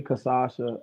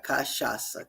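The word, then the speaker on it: cachaça: Kashasa. Kasha. Like almost like Kasha, but it's Kasha. Kasha with the S.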